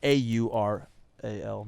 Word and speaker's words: aural: oral you know sensation a-u-r-a-l not oral but aural all right it's pronounced the same way but the the auditory